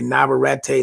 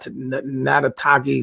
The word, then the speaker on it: Navarrete: pronounce the guys man they want to say navarrete not nadataki something close to that but